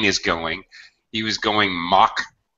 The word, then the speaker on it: Mach: going he was going Mach 7 mock sounds just like a que yo mutt yeah so